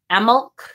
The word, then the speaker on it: Imbolc: one all right so imul or imul um the only thing that is constant is the B is not pronounced just so you know um but I have heard it pronounced uh emul uh and I have